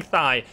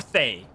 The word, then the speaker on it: Thaye: been i've been saying thigh because it's like i mean it's more they they it is day with with like a th instead of a d that's how cj said